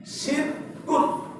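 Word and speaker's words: شرك: আপনারা কি কিছু বুঝেছেন শব্দটার উচ্চারণ কি হবে শিরক শিরক শিরক তালিব স্বয় রসিক র এর নিচে রস শিরক শিরক শিরক বুঝতে পেরেছেন তো আরবিতে শিন র জের শির কাফ দুই পেশ কুন শিনক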